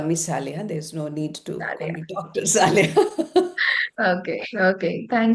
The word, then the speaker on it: Saleha: Uh it is pronounced saliha. Saliha. The first syllable is stressed. Uh and you can just call me saliha.